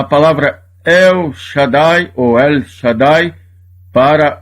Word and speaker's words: Shaddai: Nós aplicamos a palavra El Shaddai ou El Shaddai para o Eterno, para Deus Todo-Poderoso. A palavra Shaddai tem duas sílabas porque tem duas vogais.